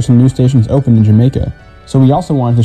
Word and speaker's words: Jamaica: As a result, the Y sound was eventually replaced with the J sound, which is how the neighborhood ended up being pronounced Jamaica, like the island.